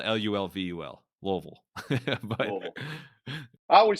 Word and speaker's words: Louisville: kill me if you got a draw it's Louisville there we go okay yeah I mean it all works shout out my Dad's cousin Mike who who taught me that it's it's like it's spelled l-u-l-v-u-l Louisville I would say Louisville I don't know sort